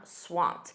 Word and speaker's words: swamped: You can also say, "I'm swamped." Notice that pronunciation. That e d is a soft t. I'm swamped.